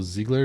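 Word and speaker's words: Zegler: than the evil witch uh Snow White's Rachel Ziggler is how you say her name yeah she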